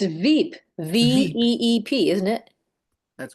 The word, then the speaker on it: VEEP: It's Veep, VEEP, isn't it? That's correct, Sally. Okay, Yeah. I thought it was Beep.